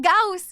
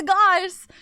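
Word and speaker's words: Gauss: Goss is correct. It's not Gaus. It's Goss. I always pronounce him Goss like Fallout Goss rifle. Is that Goss? Double check. Goss is German.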